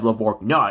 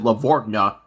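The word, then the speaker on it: LaVorgna: and knowing that that it's that's levor non-step lavor nah even though i did pronounce it correctly in in the same episode the people who pronounced it lavortna messed up as well adam adam lavorna if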